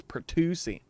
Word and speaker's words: pertussis: That's pertussis. One of the few words that has an SSIS at the end of it and is pronounced like chassis. It's chassis and pertussis.